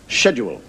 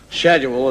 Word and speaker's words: schedule: I was having a kind of altercation with an American regarding the word schedule. And he said to me, the word is not schedule, it's schedule. S-C-H is sk, not sh.